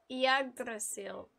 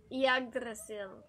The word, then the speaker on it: Yggdrasil: The correction pronunciation would sound similar to Yggdrasil, rolling the R in dr, if you want to sound fancy, broken into three syllables.